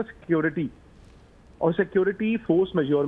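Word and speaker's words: force majeure: मुझे फ्रेंच आती नहीं इसको प्रोनाउंस कैसे करते हैं इसको कहते हैं फोर्स मेज हां ये कांट्रैक्ट में होता है और फोर्स मेजोर का जो मतलब होता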